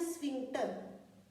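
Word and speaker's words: sphincter: उस मसल को हम कहते हैं स्फिंक्टर मसल, इसको प्रोनाउंस करते हैं स्फिंक्टर।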